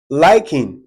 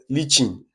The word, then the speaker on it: lichen: Then the next question, question 3, liking, which is pronounced lichen.